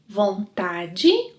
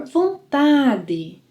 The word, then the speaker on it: vontade: Can ter vontade de sentir vontade de By the way, pronunciation can be either vontade or vontade.